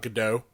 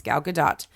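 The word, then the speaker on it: Gadot: the main it's not gdau it's not gdau that's the that's the inclination is to pronounce the name like it's French but she is actually Israeli so um it's gal gadat and um but since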